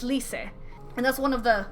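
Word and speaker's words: Lyse: from English to like lease is not least in Japanese it's Lise and that's one of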